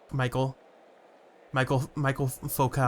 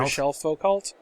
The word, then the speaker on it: Michel Foucault: world is that he throws the ball to Michael Foucault. Michel Foucault? Mm-hmm. You need to work on your pronunciation.